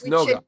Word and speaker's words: esnoga: Which Esnoga. in Spanish we say sinagoga. So this is esnoga. We call it esnoga. Okay, Esnoga.